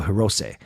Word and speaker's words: Hirose: Sorry, there SE in Japanese is a long A. It's a A, so it's say. So Hirose.